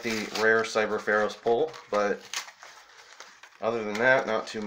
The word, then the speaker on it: Cyber Pharos: Oh, and it's a Cyber Pharos, not an Oros. I completely said the card name wrong.